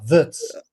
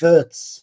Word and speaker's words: Wirtz: Anyway, Florian Wirtz, remember, Wirtz. You gotta say it like that, Yes. Wirtz.